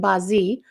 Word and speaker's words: Bazi: I'm doing the Chinese astrology charts it's called Bazi um uh at least that's how I'm pronouncing it it's B a z i because